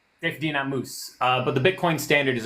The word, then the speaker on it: Saifedean Ammous: This is how he says his name. Saifedean Ammous. Saifedean Ammous.